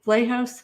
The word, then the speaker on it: Vlahos: It's Vital Dissent, Pat McFarland's podcast with Kelly Vlahos. Am I pronouncing that correctly?